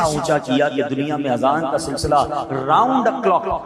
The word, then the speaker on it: اذان: نیکیاں کما سکتے ہیں۔ بعض لوگ آذان کہتے ہیں، یاد رہے پہلے اذان کہتے کس طرح ہے، اس کے تلفظ سے بچ لیں۔ آذان اذن کی جمع ہے، اذن کہتے کان کو، یہ آذان نہیں ہے، یہ لفظ اذان ہے، ٹھیک ہے۔ اور اذان